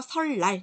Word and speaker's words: 설날: 설날도 마찬가지예요. 리을하고 니은이 만났죠. 예, 그래서 설날 이렇게 발음이 돼요. 리을, 리을로 발음이 된다는 거.